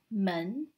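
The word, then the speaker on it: 门: character for the door it is pronounced as man in chinese man the writing looks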